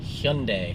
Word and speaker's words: Hyundai: So, what rhymes with Sunday? It is Hyundai.